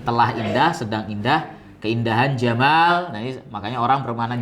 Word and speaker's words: Jamal: Padahal sebenarnya dari kata apa? Jamal. Jamal. Jamalan. Ini orang Mesir. Tapi kalau orang Yaman beda lagi. Jadi apa? Pernah saya sampaikan apa ya? Jadinya Yamal. Yamal.